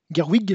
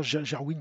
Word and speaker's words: Gerwig: Barbie de Greta gerwid Gerwig je crois que ça prononce comme ça Gerwig Gerwig avec Marco Roby